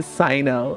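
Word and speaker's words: Cyno: I've been saying his name wrong. It's supposed to be Sino.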